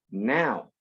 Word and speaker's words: now: letras O, U, y también las letras O, W, cuando esas dos letras están juntas, regularmente suenan como ow. Ow, no O, sino ow. De ahí viene la palabra, por ejemplo, now. Now, que se escribe N-O-W, now.